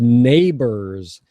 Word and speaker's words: neighbors: And I think you were talking about the pilots and their families, and you said neighbors, and it's pronounced like this.